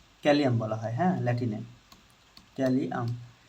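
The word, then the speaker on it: Kalium: ধরো লেখা আছে পটাশিয়াম পটাশিয়াম পটাশিয়াম পটাশিয়াম কে ক্যালিয়াম বলা হয় হ্যাঁ ল্যাটিনে ক্যালিয়াম ইংলিশ আর ল্যাটিন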